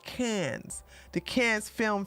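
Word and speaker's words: Cannes: can no it's pronounced can's the can's film F Festival the can's Film Festival right the cans cans like cans of soup okay all right so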